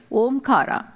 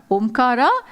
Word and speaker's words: Omkara: Omkara is made of these three syllables, A, U and Ma.